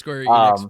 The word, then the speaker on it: Square Enix: Sorry YouTubers, but we're we're looking at live chat when this is how we know it's pronounced Square Enix, but you know, anyway.